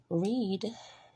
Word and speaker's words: read: a W being silent, does, where the E is silent, read, with the A being silent, know, with the